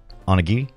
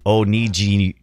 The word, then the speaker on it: onigiri: I don't know what Onigiri. Onigiri, is that how you say it? Am I getting close? Onigiri. How is that an insult somewhere? The hard G, maybe? Weird. Giri. Okay, Giri. Hard G.